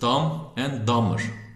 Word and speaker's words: Dumb and Dumber: B'leri telaffuz etmiyoruz. Dumb and Dumber.